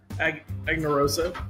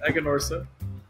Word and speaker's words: Aganorsa: Aganorsa. It's Aganorsa.